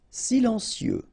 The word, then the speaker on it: silencieux: Silencieux. Final X not pronounced, okay? This part here will be pronounced like cieux, okay? Then you get silencieux.